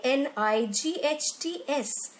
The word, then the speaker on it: knights: spelling written as K n IG HT s but we do not pronounce the word as clients but nights and K is silent in this word akin nose your G